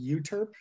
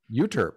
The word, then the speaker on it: Euterpe: But in this book, you added, is it pronounced Euterpe? Or how do you pronounce that? I think it's called Euterpe. Euterpe, okay. It's spelled E-U-T-R-P-E in any event.